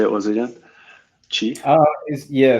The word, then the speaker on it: Qi: Chi? Yeah, so it's called Chi. It's spelled QI.